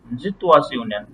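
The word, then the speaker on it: Situation: ওই যে আমরা পড়ছি না, এস এর পরে আই থাকলে কি হয়, বর্গীর জি জয়, জয় হয় না ইয়াটা, জি জিটুয়াশন। আর টি আই ও জি টু এন আসুন। থাকলে সিউনের মতো উচ্চারণ হয়। তাহলে কি জিটুয়াশন, জিটুয়াশন। ওকে, আমরা সিচুয়েশনকে আমরা জিটুয়াশন বলবো। ওকে, তাহলে স্পেলেন মানে কি?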